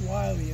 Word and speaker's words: Willie Mangum: is a story involving willie or wiley i'm not sure how to pronounce it willie is often pronounced wily in raleigh but uh we'll call